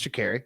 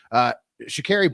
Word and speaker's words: Sha'Carri: Yeah, I think it's Sha'Carri. I'd looked up the pronunciation.